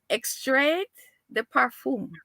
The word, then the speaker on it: extrait de parfum: I had to Google this because I did not know how to pronounce this. Extrait de parfum.